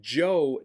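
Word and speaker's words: Zhou: in Chinese history now when I say Joe Dynasty uh it's spelled z h o youu is how you spell Joe that's the the dynasty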